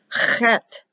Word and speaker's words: Chet: Chet, guttural sound, chet, like Bach, CH, closed H.